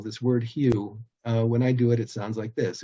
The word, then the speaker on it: HU: Mantra is the word Hue which is spelled h-u just pronounced like the color or the Hue of a color or the guy's name Hugh um and the technique